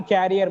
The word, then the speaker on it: career: In my career, most of the times people say it's my career. No, it is career. The pronunciation is career.